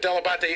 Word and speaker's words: Delabate: No, my father always called himself Delabate, and he said that he just Americanized it, but Delabate is, in fact, the proper pronunciation.